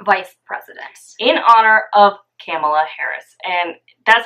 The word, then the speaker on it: Kamala: In honor of Kamala Harris. And that's how you say it. It's Kamala. Remember it by saying like Pamela, Kamala.